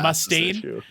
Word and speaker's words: Mustaine: I like how you are pronouncing his name wrong. That really makes me laugh. Dave Mustaine? What is it? Dave Mustaine? I mean, it's mostly an emphasis situation. It's an emphasis.